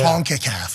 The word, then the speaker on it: CONCACAF: Wait, is that how you say it? Yeah. CONCACAF, yeah. Okay.